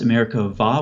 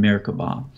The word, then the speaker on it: Merkabah: doesn't have something called a doggish so it's pronounced america vah with a v sound but if you type it in Google for whatever reason you'd want to do that it's about the bee as in Merkabah so like I said it refers to a